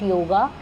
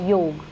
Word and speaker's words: योग: So this is a major correction for everybody who keeps saying yoga. It's not yoga. Let's first learn to say it properly. That is योग.